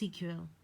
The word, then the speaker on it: SQL: high level languages like SQL pronounced cql to capture still analyze